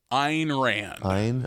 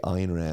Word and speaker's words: Ayn Rand: And how is it pronounced? Ayn Rand. Okay, Ayn Rand.